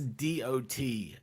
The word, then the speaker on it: Dachshund: Dachshunds. That's DOTSUNDS. Dachshunds. Y'all see what I live That says with? dash hounds, douche hounds. Or a It's dash German. hound or a Dachshund.